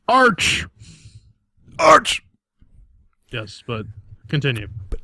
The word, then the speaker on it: Arch: You're pronouncing it wrong. It's Arch.